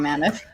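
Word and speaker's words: Mammith: mind just calling mammoth it's mammoth but it's spelled with an i-t-h so yeah yeah let's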